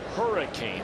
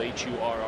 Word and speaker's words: Hurricane: came into the game i had made the mistake of saying he was from hurricane that's the way it's spelled h-u-r-r-i-c-a-n-e west virginia when in actuality that's not how they pronounce it virginia correct hurricane so for all of